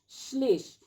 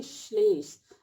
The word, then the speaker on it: श्लेष: श्लेष ऐसा लिखते हैं, जबकि उच्चारण देखिए श्लेष। अगर ये रहता तो इसको हम लिखते शलेष, तो ये ऐसा नहीं लिखेंगे, ये सही तरीका है लिखने का श्लेष का, श्लेष अलंकार।